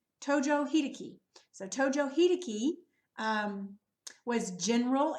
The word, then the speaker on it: Tojo Hideki: whoa so this guy this is it is Tojo Hideki Tojo Hideki so Tojo Hideki was general and Prime Minister